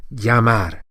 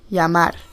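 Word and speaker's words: llamar: in standard Castellian Spanish, it's most often pronounced as a Y with the tiniest hint of J. So, Yamar. Yamar.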